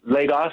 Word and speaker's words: Lagos: Pronounce that for me, Dennis. I'm sorry. Yes, Lagos.